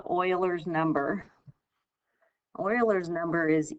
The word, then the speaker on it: Euler: so we're going to look at what's called euler's number euler's number is e which you've seen before this is pronounced euler so he is the one that